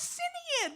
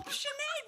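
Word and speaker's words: Sinéad: you look just like chenade o Conor Shen oh is that how you pronounce it I I always thought it was cine well chenade well thank you well thanks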